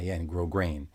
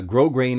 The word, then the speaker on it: grosgrain: um if you know what grosgrain is but that's spelled g-r-o-s-g-r-a-i-n grow grain so uh grow grain is nice when the fabric of The Tuxedo